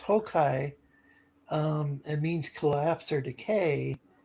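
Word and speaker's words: 崩壊: Okay, the Japanese word pronounced Hokai. So apparently, so it's a Japanese word pronounced Hokai.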